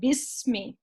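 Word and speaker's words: بسم: Okay, so Ba came before this alif, and now this alif is not going to be pronounced. So that's why we are saying Bismi.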